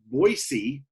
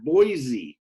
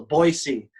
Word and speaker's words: Boise: It's pronounced with an S, not a Z. So Boise.